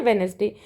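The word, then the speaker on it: Wednesday: Next है वेनेसडे, तो वेनेसडे में डी जो है साइलेंट होता है, इसे हम नहीं बोलते हैं, क्या बोलते हैं, वेनेसडे, WENESDAY।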